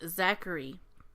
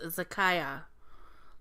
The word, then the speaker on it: Zakiah: Right away I got the name Zachary, but I knew that it was not pronounced Zachary. It was pronounced Zakiah.